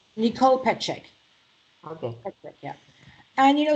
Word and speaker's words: Petschek: Petschek, yeah.